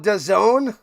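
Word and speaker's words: DAZN: They call it don. That's how you pronounce dazzen. Done.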